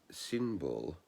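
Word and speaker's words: Cynibil: their names a bit a little bit wrong symbol c-y-n-i-b-i-l and kailin c-a-e-l-i-n they those two also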